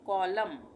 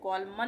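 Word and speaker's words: column: इसको हम क्या पढ़ेंगे कॉलम यहां प कॉलमन नहीं पढ़ेंगे एन साइलेंट हो जाएगा ये एन जो है ये इसका उच्चारण नहीं होगा इसको पढ़ेंगे कॉलम य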